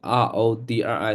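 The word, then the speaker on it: Rodrick: withell spell to you r o d r i c pronounce name let gu name that's pronounced rodri he's Greg's older brother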